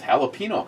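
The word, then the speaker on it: jalapeño: I was shocked to hear Matt pronounce jalapeno correctly. I would assume he pronounces it with the J. Jalapenos, I think is that would be the most common screwed up version.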